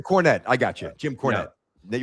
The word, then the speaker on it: Cornette: Jim Cornette. Yeah. Were you gonna say Jim Cornetti? No, I knew how to pronounce the name.